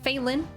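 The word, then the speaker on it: Phaelin: you can catch me on those platforms at phelin spelled the same both ways f-h-a-e-l-i-n uh and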